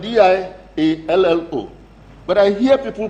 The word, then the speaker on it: Diallo: In Niger, we say Diallo. My name is Diallo.